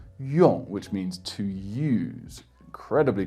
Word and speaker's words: 用: And the most common word probably is if you add a fourth tone and pronounce it 用, which means to use.